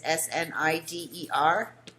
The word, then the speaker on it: Schneider: And Schneider is Snider.